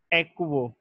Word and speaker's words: aquo: इसी तरीके से हम H2O को पढ़ते हैं वाटर, लेकिन लिगेंड के केस में इस चीज़ को पढ़ा जाता है एक्वो, AQUO, एक्वो।